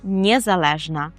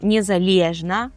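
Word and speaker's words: niezależna: І звісно, що правильна відповідь - це Б, тобто незалежна. Незалежна. При вимові прикметника цього звертайте увагу на склад Ле. Це не кажемо незалежна, не кажемо незалежна, а кажемо незалежна.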